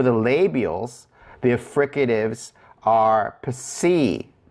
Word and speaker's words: psi: So for the labials, the fricatives are psi, psi, psi. So if you hear that p sound and that S to it, psi, psi.